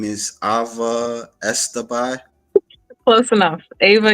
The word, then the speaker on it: Easterby: Her name is Ava Estabbai. Close enough. Ava Easter B. Easterb. Okay. Okay. I'm not good at pronunciation sometimes. No one gets that one right ever. Easter like the holiday, be like the bug.